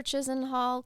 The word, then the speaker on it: Chisenhall: It might be Chisenhall. There's no R in it, but Okay. I heard people pronouncing it that way as if there were one. I prefer Chisenhall because that's how it's spelled.